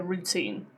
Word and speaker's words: routine: One important morning, she decided to tighten her routine. Notice routine does not have a glottle T because teen is stressed. Okay? When it's a stressed syllable, we don't put glottle toutine, not routine. Okay?